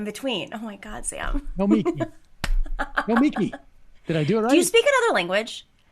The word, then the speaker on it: Nomiki: It's not Noma. It's Nomiki. me. Nomiki. Nomiki. Nomiki. Nomiki. You do this thing where you make it a mutt in between. Oh my God, Sam. Nomiki.